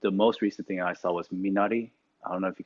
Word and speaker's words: minari: no it's not on netflix yet um it's it's spelled okay m i n a r i um it's minari is a korean word um